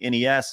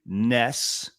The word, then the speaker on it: NES: play the Nintendo, I'm going to play the NES, I'm going to go play the NES, right?